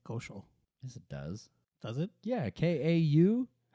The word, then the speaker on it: Kaushal: Kaushal. I'm fucking stupid. That's how they say it. It's not hard. Kaushal.